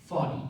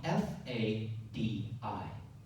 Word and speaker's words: Fadi: Fadi, F-A-D-I.